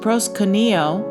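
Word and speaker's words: προσκυνέω: And that word is pronounced proskuneo, and it means worship, and it means to kiss the hand towards one in tokens of reverence.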